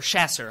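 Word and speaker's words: chasseur: captain's Commission in a company called emrick's chaucers and um or chasser I guess is a more accurate pronunciation A chasser is a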